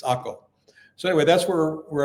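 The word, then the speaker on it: Akko: just north of hia AKO in English is spelled AC re but in Hebrew and everyone here calls it AKO you don't call it acre or ACA it's AKO so anyway that's where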